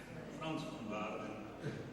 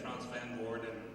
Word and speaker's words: Frans van Waarden: Frans van Waarden. Yes. But in English you say Frans van Woorden.